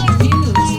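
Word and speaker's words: gnu: the sound that they just like how a cow will a beast will go new with more of an n Sound in the beginning and it's spelled g and U that silent between trees here that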